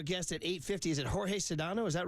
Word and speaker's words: Jorge Sedano: Sedano is coming on George Sedano oh he goes by George like George Costa does it's spelled like Jorge so I went with Jorge on the guess it is but it's George hey this why we